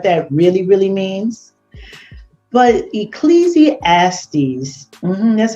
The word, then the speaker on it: Ecclesiastes: down on what that really really means but ecclesiastes that's how you say it 10 and 19